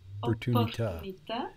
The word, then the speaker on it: opportunità: And I think you tried to pronounce, I think you did pronounce the double P there, no? Opportunità.